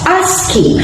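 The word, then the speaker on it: ASCII: an example of asking a-s-c-i-i pronounced as asking is an American Standard code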